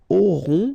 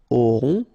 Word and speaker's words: auront: Okay, then ils auront, final T not pronounced, O-N together, on, auront, okay, and then the link between the two, ils auront, elles auront.